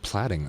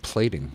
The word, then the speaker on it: Plating: I said platting instead of plating.